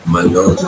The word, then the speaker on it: Mallorca: So it will be Mallorca. O Mallorca. is more pronounced. It is not, this A is not so much pronounced as O.